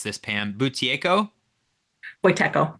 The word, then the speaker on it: Buteyko: and I was going to ask how to pronounce this, Pam, Buteyko? Buteyko. Buteyko.